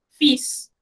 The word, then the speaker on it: fils: Aquí hacemos un alto, porque generalmente, como decimos en buen panameño, nos comemos es la S final, ¿verdad? Pero aquí, al pronunciar, la que no estamos pronunciando es la L.